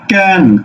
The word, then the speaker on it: কেন: করছো ওকে এবার আসো এটা তুমি উচ্চারণ করছো কি ক্যান ক্যান তুমি কেন বলছো না কেন এই কেন কেন আসোনি